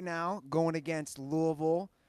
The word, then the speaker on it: Louisville: I believe it's pronounced Louisville, but whatever. What's the technical pronunciation of it? I think it's Louisville. Louisville, right? People in Cincinnati call it Louisville, which is wrong. I believe that is incorrect.